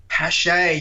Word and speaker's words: Paasche: I don't know how to pronounce it. It's a French name. It starts with P. Is it Paasche? Paasche, yes, that's the one.